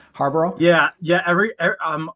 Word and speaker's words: Harbaugh: bear quarterback right name Harbor yeah yeah every um Harbor is how you say it um but uh yeah